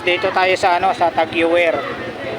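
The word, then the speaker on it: TAG Heuer: Tapos dito tayo sa ano, sa Tag-Heuer. Pero yung tamang bigkas daw dito mga kabarbers, Tag-Heuer. Ayan ha, Tag-Heuer.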